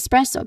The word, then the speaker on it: espresso: You say it as espresso because that that is how it is spelled like.